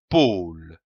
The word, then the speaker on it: pôle: po comme un pôle attention ici à l'accent circonflexe on traîne le haut un pôle le pôle nous avons